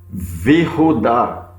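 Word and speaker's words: וִיהוּדָה: Porém, quando ela recebe a conjunção, o shevá que está aqui de baixo, ele cai e fica apenas vi. Como que eu leio? Vihudá e Judá.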